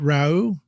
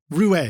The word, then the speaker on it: Raue: If I pronounce it right, Rau, is that the artist? Rouet. Excuse me. Rouet. Yeah, it doesn't look how it sounds, but yes, it's Rouet.